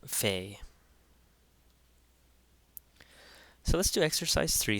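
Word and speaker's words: ⲫⲓ: letter P in Coptic here we have the Fay the Fay which is a f sound or a ph sound however you want to look at it and it's f as in or pH as in phone so Fay so let's do exercise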